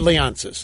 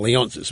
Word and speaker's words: Leonsis: and leonis okay sorry Ted leonis I was been mispronouncing it leonis was Ted leonis thank you sorry I'm happy